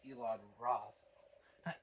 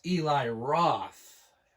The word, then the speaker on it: Eli Roth: it's produced directed by Elon Roth Elon Roth damn I bu but it's Eli Roth there I mispronounced the name I'm really sorry but